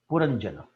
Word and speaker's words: Puranjana: the story of a king puranjana i should say this is the correct pronunciation i should also point